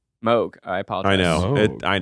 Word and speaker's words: Moog: decent price I think theramin theramin so it's pronounced Moog I apologize I know I know we all